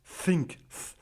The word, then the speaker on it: think: Think. Think. Alors, ça ressemble presque à un F en fait.